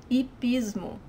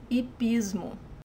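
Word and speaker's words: hipismo: nomming Tao it Pismo so remember when the age is the first letter of the word in Portuguese it's silent it Pismo it Pismo is Greenman is Grima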